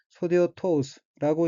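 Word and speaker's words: 袖を通す: 다음 어귀는 한자가 소매 숫자와 통할 통자이고 일본어로는 소데오토우스라고 읽으며 소데오토우스는 소매란 뜻의 소대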